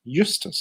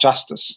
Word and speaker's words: Eustace: On germ warfare, they had, I believe his name is pronounced Eustace. Eustace, yeah, it's Eustace. Not Justice. Yeah, Justice is like a anglicization, but it's actually Afrikaans.